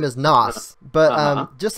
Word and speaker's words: Nas: And just in case, for those who are mistakenly pronouncing my username incorrectly, it's Nasaki. The character's name is Nas, but just like the rapper.